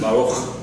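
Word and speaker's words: ברוך: So, it is spelled with, as though it has the dagesh with the, what's it called again? The Shiva. Thank you. I'm sorry, my mind goes blank sometimes. With the Shiva, okay, making it a K sound, but usually we pronounce it like that. Baruch.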